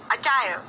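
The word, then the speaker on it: attire: अटायर, अटायर, अटायर, अटायर, अटायर, अटायर, अटायर। मैंने र बोला last में? नहीं, तो क्या बोलोगे? अटायर, अटायर, अटायर। च नहीं बोलना, ट बोलना है।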